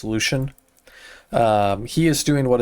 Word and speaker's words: Lucian: So, what the Lucian is doing, Lucian, Lucian, I call him Lucien, it's easier, but I think the proper pronunciation is Lucian.